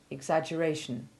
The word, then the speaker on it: exaggeration: the stonemason didn't like note however that the double g is soft in exaggerate and exaggeration listen to a sentence